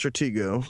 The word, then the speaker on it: Stratego: differences in strategic well one it's pronounced Stratego right faggle so the other